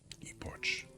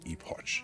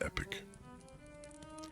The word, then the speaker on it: epoch: That miserable ep that miserable epic from which I dated all my woe epoch. I think epotch is pronounced epic.